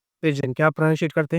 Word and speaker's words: pidgin: मत होना है ना पी आई डी जी आई एन इसको प्रोनंसिएशन करते हैं पेजन क्या प्रोना सिएट करते